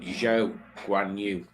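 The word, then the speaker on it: Zhou Guanyu: Zhou Guan Yu. That's how you pronounce it.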